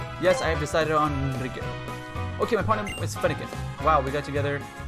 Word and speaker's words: Enrique: because it's Enrique... You have to roll your R's, and I see you